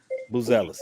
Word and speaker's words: Buzelis: Your first round draft pick, Mateus, I can't pronounce his last name, Buzelis, something. What is it? Buzelis.